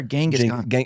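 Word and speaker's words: Genghis: Well that was a weirder one because Jingus Khan sent uh two ambassadors or Gangaskhan it's pronounced Jingus.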